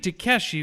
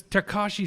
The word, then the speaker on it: Tekashi: I was wide awake Takashi do you think Takeshi because of some Asian gamer but it's Takashi 69 with spelled with